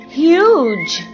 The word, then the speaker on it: huge: C-U-B, cube. H-U-G, huge. C-U-T, cute. T-U-B, tube.